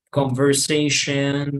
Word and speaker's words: conversation: All right, so the idea is that you don't say shon, porque sí, visiblemente para nosotros esto es una O, pero no pronunciamos shon, sino jen, jen, como una E, right?